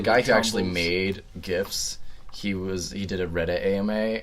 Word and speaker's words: GIF: made GIFs, he did a Reddit AMA, and then someone was like, so how's it pronounced? And he said it's actually pronounced GIF, but I don't care.